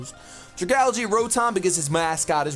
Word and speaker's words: Dragalge: We have Tangela, Dragalge, as some of you guys have pointed out. That's how the correct pronunciation is. Dragalge, Rotom, because his mascot is Rotom.